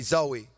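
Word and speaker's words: ζωή: eternal life is a greek word and it's pronounced zoe say with me zoe some of you guys are gonna go home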